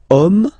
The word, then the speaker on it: homme: And then here, we've got the word homme, man, okay? But then it starts with H, as in French, H is not pronounced, so the first sound that we hear is O, okay?